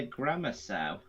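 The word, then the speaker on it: grammersow: I think that's how you pronounce it. Like this is how it's spelled. Yeah, grammar sow. Okay, so I'm not crazy. That is how you're supposed to pronounce it.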